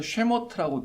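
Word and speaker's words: שמות: 그래서 쉐모트라고 발음하는데 그게 원래 이제 히브리어 성경의 제목입니다.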